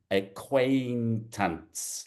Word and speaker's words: acquaintance: So the pronunciation is this ai here is a acquaintance like that.